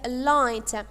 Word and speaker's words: light: the word the light the ght is a a consonant cluster but the letters G and H are silent letters silent letters mean that we do not pronounce them so that's why we say the lights are not beloved or